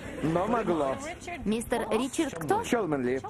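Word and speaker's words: Cholmondeley: Чолменли. Чолменли. Так читается? Да, Чолменли. Все просто. Но написано Чолмондли. Но читается по-другому.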